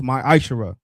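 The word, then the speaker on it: ma'aser: of Malachi 3:es 8-10 means 10th in the Hebrew and is pronounced my Aisha 10% of every penny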